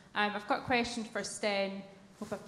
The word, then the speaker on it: Stijn: I've got a question for Stijn. Hope I've pronounced your name correctly.